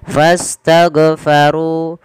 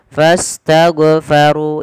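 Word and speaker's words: فاستغفروا: Padahal huruf ghain bukan huruf mantul. Tidak boleh mantul. Maka bagaimana cara membacanya? Sesuaikan dari makhraj huruf ghain. Makhraj jadi mana? Pangkal. Bukan pangkal ya. Dia adnal halqi, yaitu tenggorokan paling atas yang dekat dengan pangkal lidah kita. Maka fastaghfaru dan tebalkan huruf ru karena dia ra tafkhim.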